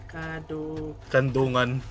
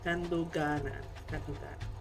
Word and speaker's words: Kadungganan: Kandungan. Kadungganan. So this is how you. Kadungganan. There you go. The proper pronunciation.